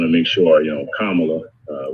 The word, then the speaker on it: Kamala: make sure you know kamala uh we always want to say her name right so senator kamala harris right i always tell people come on look right that's because i think